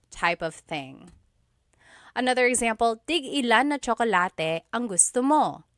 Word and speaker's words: tig-ilan: So tig-ilan, when there's a hyphen in it, you have to have that glottal stop. Tig-ilan. That means how many of each. When there's no hyphen, tigilan, tigilan.